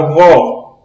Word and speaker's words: vó: Veja, quando nós pronunciamos a palavra vó, a vó é aberto.